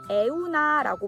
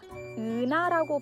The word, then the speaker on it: 은하: 처음엔 에우나라고 많이들 읽어요. 그래서 저는 에우나도 뭐 괜찮겠다 했는데 들을 때마다 에우나가 별로 이쁘게 들리진 않더라고요. 그래서 은하라고 발음해보는 건 어떻겠냐라고 해서 은하라고 알려줬더니 으 발음도 또 이탈리아에도 없는 발음이거든요.